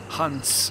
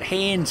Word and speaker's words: Hans: they pronounce Hans holes pronounce it hunts Shian and Watson's like hey it's that hands guy hands Shian but I don't